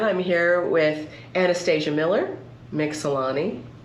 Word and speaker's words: Mixellany: here with Anastasia Miller, Mixellany. Mixellany. You can say You can say Mixellany. it. I'm You're American. You're American. You can say it. And the British say Mixellany.